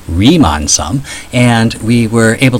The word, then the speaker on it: Riemann: So last time we were able to find a Ryman sum. Oh wait, no it's not pronounced Ryman. It's pronounced remon sum.